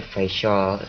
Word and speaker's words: Faisal: Oh, just call me Faisal as you did. Yeah, it's hard to pronounce, but it's easy as a facial. Fashel?